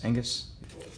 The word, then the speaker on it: Angus: I believe the G is silent, Angus.